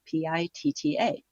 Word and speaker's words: Pitta: It's called Pitta, P-I-T-T-A. Pitta, but with a short I and 2 T's.